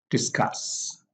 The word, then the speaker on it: discuss: nouns and adjectives because verbs generally have the stress on the second syllable we have like accept accept begin begin discuss discuss prevent suggest remove